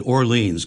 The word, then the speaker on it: Orleans: I said Orleans cuz that rhymes with the one on on Cape Cod.